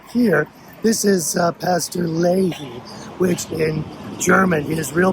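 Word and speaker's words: Wilhelm Löhe: gentleman right up here, this is uh Pastor Loehe, which in German, his real pronunciation would be uh Wilhelm Loehe.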